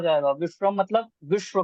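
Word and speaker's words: विश्वम्: संकीर्तनैक पितरौ कमलायताक्षौ विशंबरो द्विजवरौ विषम नहीं विश्वम। विश्वम विश्वम विषम तो विश्व हो जाएगा, विश्वम मतलब विश्व को, विश्व का विश्वम भरण करने वाले, ऐसा अर्थ बनेगा ना।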